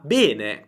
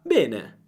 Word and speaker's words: bene: Bene. Però se vai in Toscana, vai a Roma o in altre regioni d'Italia, la pronuncia sarà aperta. Bene.